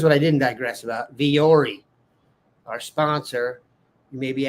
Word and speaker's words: Vuori: It hasn't gotten here yet, but we did find out that it's not Vuori. It's Vori. Despite how it's spelled, this stuff is athletic chic, incredibly versatile and comfortable.